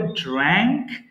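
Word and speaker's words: drank: এখানে একটা common mistakes এর কথা বলবো, এটা অনেকে ভুল করে ড্রাঙ্ক ড্রাঙ্ক বলে ফেলি। প্রথমটা হবে ড্র্যাঙ্ক, এর পরেরটা হবে ড্রাঙ্ক। প্রথমে এরপরে সাউন্ড আসবে। সো ড্র্যাঙ্ক ড্রাঙ্ক।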